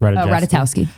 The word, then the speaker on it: Ratajkowski: Ratajkowski.